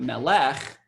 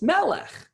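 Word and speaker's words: מלך: is a little different Melek it's not Malak its Melek so it's a little different there are rules for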